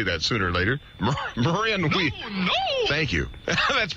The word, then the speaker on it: Marin: knew i'd just say that sooner or later marin thank you that's pronounced marin marin that's right m a h ma rin